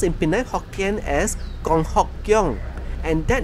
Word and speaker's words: Kong Hock Keong: It also has an official name pronounced in Penang Hokkien as Kong3 Hock1 Keong4, and that name comes with a double meaning.